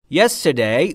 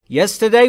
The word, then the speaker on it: yesterday: تلفظ درستش بچه ها yesterday نیست. R در انگلیسی به این صورت تلفظ میشه. زبونتون جمع بشه بره نزدیک سقف دهان. R ر نمیگیم. Yesterday اگر بخواید خیلی آروم بگید و اگر بخواید روون بگید میشه yesterday.